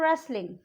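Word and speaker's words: wrestling: Sword, उसको हम sword, W pronounce नहीं आएगा यहाँ पे। WRESTLI, उसको हम रेसलिंग नहीं बोलते, हम उसको बोलते हैं रेसलिंग।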